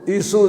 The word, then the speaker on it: عیسو: اس کو بعض نے عیسیٰ کر کے پڑھا ہے، سواد کے ساتھ ہے، عین یا سواد الف مکسورہ جیسا موسیٰ کا الف ہوتا ایسے، لیکن اس کا تلفظ عیسو زیادہ صحیح ہے.